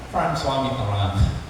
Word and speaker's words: François Mitterrand: Tapi ini dibacanya apa? François Mitterrand.